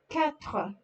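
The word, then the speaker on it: quatre: 4, 4. U after Q is silent, as if it's not even there.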